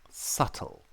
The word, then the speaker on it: subtle: is a good one subtle subtle there's a b in subtle can you believe it yes s u b t l e subtle the B is is indeed silent and subtle chaos chaos